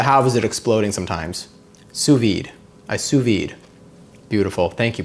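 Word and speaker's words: sous vide: Suvid.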